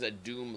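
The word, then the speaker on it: Adum: adam you misunderstand the the merchant's name is a doom larp but it's spelled adu-m so uh man these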